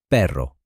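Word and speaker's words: perro: For example, the letter R in Spanish, the R is lighter and more rolled, like pero, which in English means dog, compared to pero, which in English means but.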